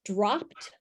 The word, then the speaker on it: dropped: If you think of the word dropped, I dropped a ball, and you see kids spelling it D-R-O-P-T, they're doing it totally phonetically, right? So they hear that ending as a T.